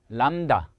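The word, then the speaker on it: λ: 그러니까 'l' 발음 이 두 번 나 는 거 라 고 생각 하시면 돼 요 . 단순 한 'l' 이 아니므로 , 이 를 잘 구분 해야 합니다 . 혀 를 앞니 뒤 에 대고 'l' 자 를 두 개 만드는 것 과 비슷하다 고 생각 하면 됩니다 .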